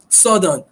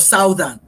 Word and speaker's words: southern: Like that's southern instead of southern, you know.